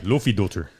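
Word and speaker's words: Laufeydóttir: So you and these names, man. Yeah, man, you got to get them right. Lofidolter. That's how you say it.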